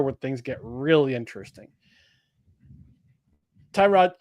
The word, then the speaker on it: Tyrod: Tyrod. Tyrod or is it Turrod? I don't know what anymore. It's Tyrod. It's Tyrod to us. Damn it. But I guess he pronounces his name Turd.